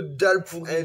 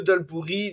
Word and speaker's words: dholl puri: à l'île Maurice le dalp pourri. Donc euh ça s'écrit Doll DH O2 L et plus loin P U R I mais ça se prononce dalle.